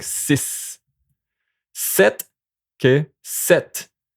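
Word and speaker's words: sept: Set. Okay. Set. The pt is going to be just like a set. Set. Okay. This one you pronounce the t at the end.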